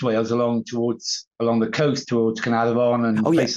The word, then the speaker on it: Caernarfon: And then I think I'm going to mispronounce this, like Caernarfon? Caernarfon, yeah. That's very good, yeah. Caernarfon, yeah. Okay. In the Welsh dictionary, an F is a V. Okay.